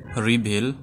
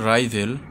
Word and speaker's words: rival: শব্দটি যেটি সেটি হচ্ছে রিভেল রিভেল বা এর উচ্চারণটা হবে রাইভেল রাইভেল শব্দের অর্থ প্রতিদ্বন্দী